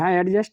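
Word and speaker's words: adjust: with the others य एडजस्ट नहीं पढ़ेंगे इसे क्योंकि ए और जे के बीच में डी साइलेंट रहता है ठीक है और गेम्स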